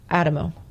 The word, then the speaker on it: Adamo: Trying to, but it's spelled Adamo, but it's Adamo.